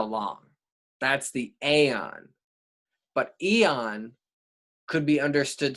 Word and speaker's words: Aeon: so accessible is the aeon it's spelt o n but it's the same as the word eon e o n and